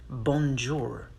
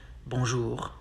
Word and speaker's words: bonjour: know that the sound the two letters o and n together sound like um and pronounce the r at the end not bonjour bonjour how to say it's